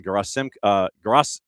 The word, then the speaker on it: Gerasimenkov: They also signed a homegrown defender, Mikhail Gerasimenkov. It's an extra syllable in there.